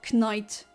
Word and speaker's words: knight: Oh, as a child, I always said knight because I didn't know the K was silent.